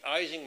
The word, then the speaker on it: Ising: his PhD student, Ernst Ising. And even though we pronounce it the Ising model, if you're speaking German, you say Ising.